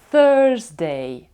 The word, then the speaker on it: Thursday: як А я зробила пару гарних відео про вимовляння звуків будь ласка їх продивіться Вони я дам посилання під цим відео Thursday і американська англійська проговорює букву R звук і